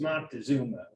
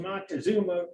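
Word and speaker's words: Moctezuma: film here monta which is the more correct pronunciation for a long time it was montezuma it just kind of slid right over anyway the halls of mock to zuma refers to the united states marine corps during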